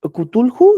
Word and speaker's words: Cthulhu: Porque Cthulhu, sí, sí se pronuncia así, Carlos.